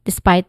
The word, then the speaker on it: despite: Pronunciation wise, we have this, despite, where it has this two distinct sounds, starting with D. Yeah, it starts with D, which has a short E sound, and then spite, which has a diphthong sound I. So this is also the stressed syllable of the word.